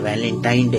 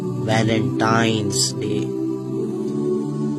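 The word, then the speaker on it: Valentine's Day: नाम पर गौर करें इसे जो आम कहा जाता है यह वैलेंटाइन डे है लेकिन हकीकत में जो इसका प्रोनाउंस एशन है वह है वैलेंटाइंस डे य वैलेंटाइन वाला दिन है और उस बदबख्त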